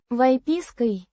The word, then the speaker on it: выпиской: Выпиской. The instrumental case singular feminine of the noun. Выписка. Vypiska, meaning extract, certificate, or medical record. Pronounced Vypiskoy. with emphasis on the Pis. syllable.